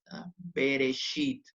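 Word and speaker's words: בְּרֵאשִׁית: un se va entonces dice la teoría dice que suena como una muy cortita cuando inicia una sílaba o cuando está debajo de la primera consonante de una palabra en este caso está debajo de la primera consonante está por eso tiene que sonar bereshit a ver si tiene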